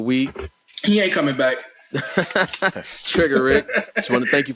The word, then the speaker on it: Triggarik: r i g g a r i k trigger Rick that's how it's pronounced not triger young people trigger Rick oh yeah I am